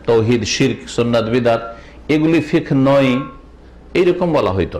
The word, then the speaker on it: ফিকহ: আমাদের আলোচনার বিষয়বস্তু আজকে প্রথম আলোচনা, নতুন আলোচনা, তা হচ্ছে ইসলামী ফিকহ সম্পর্কে। এই ফিকহ শব্দটিকে আমাদের দেশের লোকেরা শুদ্ধ উচ্চারণ করে না, বাংলা থেকে ফেকা করে। ইসলামী ফেকা আসলে ফেকা না, ফিকহুন মানে জ্ঞান অর্জন করা।